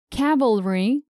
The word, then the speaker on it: cavalry: number one cavalry and calvary people often confuse cavalry armed forces on horseback with calvary an experience